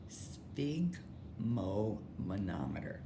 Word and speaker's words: sphygmomanometer: Sphygmomanometer. And if you want to pronounce it so you can spell it, but